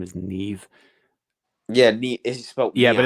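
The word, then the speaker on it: Niamh: from Irish mythology I think her name is Neve yeah yeah but it's spelled like yeah n-i-a-d-h -e-e-v-e you get a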